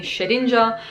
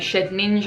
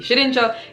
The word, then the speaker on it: Shedinja: well we are seeing shedinja I know I keep saying shed ninja orsha ninja or it doesn't really matter sorry actually it does matter I get tilted